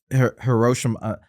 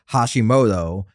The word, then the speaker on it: Hashimoto: I like at the end when Captain McVeigh is talking to Commander Hiroshima.